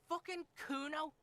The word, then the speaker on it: Kuno: that lame shalalala bang no i didn't it's kuno say it right say it like it said pretty lame orini's name nowhere near kuno the thought crosses your